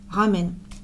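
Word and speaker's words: ラーメン: Cup ramen. D'ailleurs, prononciation japonaise, normalement c'est ramen. On allonge le A.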